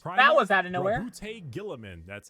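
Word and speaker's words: Roboute Guilliman: Robute Gilliman. That's how it's said. Robert Gilliman.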